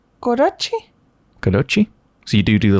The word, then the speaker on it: kodachi: When you pronounce that, is it Kadoki or Kadochi? Kodachi? Kodachi?